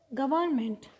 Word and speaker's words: government: Government, GOVERNMENT, here N is silent.